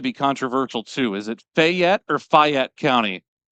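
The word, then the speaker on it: Fayette: Is it Fyet or Fet County? Fet is what they say.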